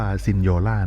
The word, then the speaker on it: Signora: นี้ นะ ครับ ผม ใน ภาษา อิตาลี ออก เสียง ว่า ซินโญ่า นะ ครับ แปล ว่า